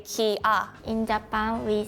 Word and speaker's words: Kia: possible maybe someone maybe actually in Korea we say Kia not Kia but the spelling is K so I think the most count says Kia not Kia but in Korea it's K not Kia so is Korean G